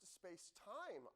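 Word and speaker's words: SpacemiT: The next best one is probably the This is pronounced space time.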